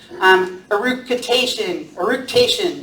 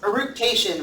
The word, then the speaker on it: eructation: Eructation, that's how it's pronounced. Eructation, which is belching.